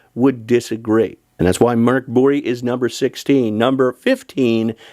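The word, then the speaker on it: Mörk Borg: At number 16, another Free League game, Mork Borg. That, according to my Swedish friends, is how the game is actually pronounced.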